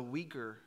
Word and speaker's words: Uyghur: I believe it is pronounced the Uyghur people.